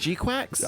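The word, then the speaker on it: GQuuuuuuX: Uh that was like it's pronounced Gquax.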